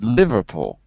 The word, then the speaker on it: Liverpool: got a house in liverpool so the stressed syllable is the live and because it's capitals you know that that word is more stressed than house so it's going to look